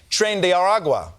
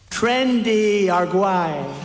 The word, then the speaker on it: Tren de Aragua: suspect is a member of the Venezuelan gang Tren de Aragua, or as Trump pronounces it, Trendy Arguay.